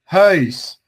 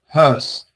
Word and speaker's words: huis: But in the Netherlands, yeah, if we have the combination of the U and the I, they pronunciate the I like separate, kind of separate, like you pronunciated it, like huis, yeah.